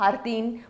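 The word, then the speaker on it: jardín: repetir para mim aqui harding é harting o que você sabe que o J em espanhol ele é raspado aqui na nossa garganta É raro e depois tem um R vibrante olha raro dele é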